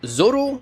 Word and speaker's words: Zolo: Codenamed ZM-S08G, the Zolo, technically pronounced Zoro, was a mass production